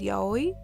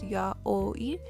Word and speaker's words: yaoi: before, and in Japan the word is yaoi, 3 syllables, yaoi, but I'm embarrassed to sound like I'm being a tryhard every time, so I'll just say yaoi, which is totally not how it's said, and I recognize that.